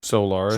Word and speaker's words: Solaris: Solaris, Solaris. like solar is.